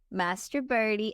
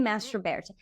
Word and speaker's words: Mastroberte: I guessed how to say her last name before we started recording, and it was I said Mastroberte because that's how it's spelled, and she said Mastroberte, which is the American version. But I really think you got something there with Mastroberte.